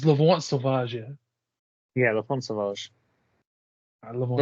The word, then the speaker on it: L'Enfant Sauvage: I really don't know how to pronounce it, so I just call it elephant sausage. Nice, okay. It's L'Enfant Sauvage, yeah?